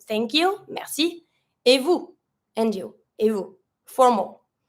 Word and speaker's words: vous: That you is going to be vous, V-O-U-S, vous. You don't pronounce the S, you just say vous.